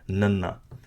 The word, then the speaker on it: ਨ: Now, very easy to pronounce. It's just like your standard N sound in the English language, your nanna.